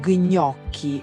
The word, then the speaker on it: gnocchi: Molti dicono gnocchi o lasagna. pronunciando separatamente la G e la N. Il suono gn è un abbraccio delicato, non un urto, e il gli in aglio non è alio.